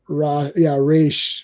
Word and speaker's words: Ra's: Yes, it's Raish, like Rashalgo, whatever.